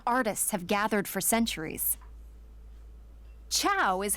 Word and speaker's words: ciao: place where Roman artists have gathered for centuries tchau is how you say hi in Italian go ahead give it a try ciao perfect you'd fit right in in fact rather